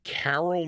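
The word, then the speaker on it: Karyl: And it features Carol Mann, spelled with a K, K-A-R-Y-L.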